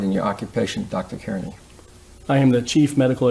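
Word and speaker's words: Kearny: Carney.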